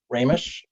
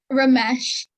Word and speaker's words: Ramesh: Ramish or Ramish? Here. You're there. How's it pronounced? Ramesh. Ramesh. Oh, I was really off.